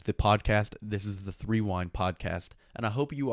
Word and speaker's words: Threewind: It is pronounced Threewind, as in rewind, sports, on every single social media.